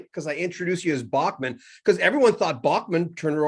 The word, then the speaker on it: Bachman: b o c k so you could sell in german it's bachmann right it was like bachmann turner over drive that kind of in england it's real quick it's beckman turner overdrive in canada it's backman and the state's at